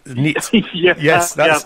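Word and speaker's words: Neate: first of all right it's neat I've had lots I've had meat in the past I've had quite a few different ones but yeah meet is the name now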